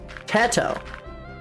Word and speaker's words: Teto: Teto. It's not pronounced in the Spanish T. Okay. I see. Te. Oh, so it's like eh.